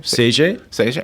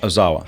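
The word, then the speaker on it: Seiji Ozawa: Well, how do you pronounce his name? Seiji Okay. Ozawa.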